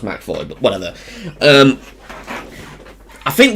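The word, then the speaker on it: McAvoy: star's James mvoy um who I always thought you pronounce his name as macavoy because it's got MC and then avoy in it but apparently it's pronounced maoy but whatever um I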